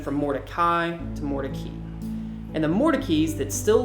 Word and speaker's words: Mordecai: and here's my confession of the day sure morai that's what I thought it was well it